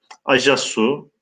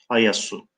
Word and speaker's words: Ayasu: Acasu yahut demiş, Acesü, daha doğrusu demiş, Ayasu.